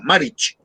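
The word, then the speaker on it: Marić: Como es un apellido serbio-croata, la C final se pronuncia como una Ch, pero una Ch cortica, Maric.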